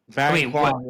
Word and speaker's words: Bang Kwang: And Dan, how do we pronounce this word properly here? Bang Kwang? Bang Kwang, yeah.